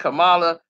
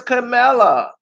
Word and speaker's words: Kamala: she triy to say her name ain't Camala it's camela my name is CA you